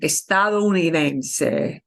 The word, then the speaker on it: estadounidense: it'll be estadounidense, and they'll kind of almost omit the O. But properly spoken, estadounidense.